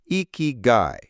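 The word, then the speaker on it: ikigai: Strategy two, exploring eeky. For those considering a larger career shift, the Japanese concept of eeky, pronounced iky, is a powerful framework.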